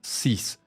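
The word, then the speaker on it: six: En el caso, por ejemplo, del número 6, la X final se pronuncia como una S, por eso pronuncias 6.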